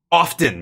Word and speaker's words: often: I always used to say often. The T is silent. But then when I started doing voice work and I heard other really good voice actors, whenever you're listening to anything official, it's always pronounced with a T. Often is slang. Often is how you should say it.